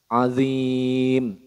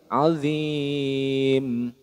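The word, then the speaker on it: عظيم: Maka cara membacanya adalah huruf hidupnya disukunkan, kemudian dibaca panjang, boleh 1 alif, 2 alif, atau 3 alif. Contoh, azim, itu 1 alif. Kalau 2 alif, azim. Kalau 3 alif, azim.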